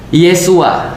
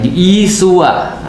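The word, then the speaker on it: Yeshua: Jadi kalau misalnya di dalam ee di dalam Katolik pernah dulu saya diajarkan Yesus itu bahasa bahasa Ibraninya adalah Yesua. Nah, Yesua.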